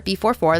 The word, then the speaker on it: B44: B44 as in the letter B, followed by the number 44, B44, that's how it's pronounced.